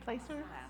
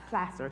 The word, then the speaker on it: Placer: Am I saying it right? Placer Plaster Placer sorry people who don't live in Plaster County but maybe live a